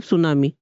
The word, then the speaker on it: tsunami: tsunami लिखा है मतलब सुनामी, टी साइलेंट है।